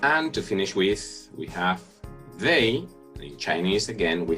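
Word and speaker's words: 他: we have to make the difference in the characters but not their pronunciation which is the same for he and she now here we have the character for he and pronunciation ha ha then the character for she as you can see the character changes a little bit the left part of it here we have the radical for woman but the pronunciation is the same as he so we have ha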